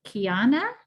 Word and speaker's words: Kiana: you and i think kiana is that how you pronounce your name kiana yes you said it right awesome um so yeah